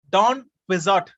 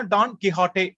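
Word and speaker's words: Don Quixote: டான் குவிசாட், இங்கிலீஷ்ல pronunciation வந்து டான் குவிசாட், QUIXOTE. இது ஒரு ஸ்பானிஷ் நாவல். எழுதுனது வந்து மிகாயில் தி செர்வான்டஸ். அப்ப மிகாயில் தி செர்வான்டஸோட ஸ்பானிஷ் நாவல் இது டான் குவிசாட். இல்ல ஸ்பானிஷ்ல ப்ரொனவுன்ஸ் பண்ணா டான் கிஹாட்டே அப்படின்னு ப்ரொனவுன்ஸ் பண்ணுவாங்க.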